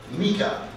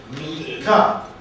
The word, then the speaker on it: Meica: Meica, Meica. The first syllable is stressed, the second unstressed.